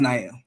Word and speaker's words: Nile: So, yeah, it's pronounced Nael.